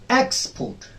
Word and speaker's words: export: X. This is the first syllable. X, and port is the second syllable. Export. X. It has to be a bit louder, bit longer, and a bit on a higher pitch.